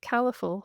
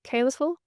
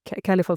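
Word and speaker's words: Caliphal: I would have pronounced it Califul Finances. Is is it Calisl? No colorful finances.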